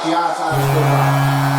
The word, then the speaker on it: Giannis Antetokounmpo: And you can't just really just try to say it, just like Giannis Antetokounmpo.